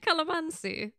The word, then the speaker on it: calamansi: Seriously, it's spelled C-A-L-A-M-A. Calamansi? N-S-I. Calamansi? Calamansi.